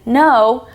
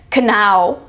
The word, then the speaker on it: know: word that can be pronounced without the K at the beginning and without the W at the end no n o as in no and no as in no are pronounced exactly the